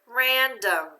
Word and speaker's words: random: Random. Now, normally that O would say ah because of that breve. Why do we say random?